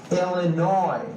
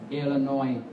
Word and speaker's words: Illinois: Hawaii Hawaii Haw Idaho Illinois the final s is silent again no s right Illinois Indiana Iowa Kansas right